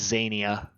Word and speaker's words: Zania: In common, her name is Aquania. In Elvish, it is Zania.